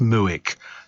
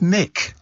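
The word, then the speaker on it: Muick: uh muck but I'm sure it can't be pronounced muck it doesn't I don't know what it means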